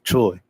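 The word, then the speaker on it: T.R.O.Y.: I reminisce over you, Troy. No T period R period O period Y. That's how it's pronounced.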